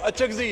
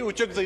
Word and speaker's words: اچکزئی: وہ اچکزئی ہے جی، اچکزئی نہیں ہے، آپ کی نالج کے لیے.